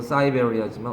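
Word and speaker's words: Siberia: 저 열대지방에도 살고 저 그 뭐야 시베리아도 살고 영어식 발음은 사이베리아지만 어쨌든 한때에는 그렇게 발견되었단 말이죠.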